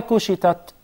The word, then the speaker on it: كُشِطَتْ: Why kushitat? There are ta, there is ta, and there is ta. But when you say kushitat, it seems like there are two tas. So the ta is deeper, is heavier, is one of the huruf of al-isti'la versus than the ta.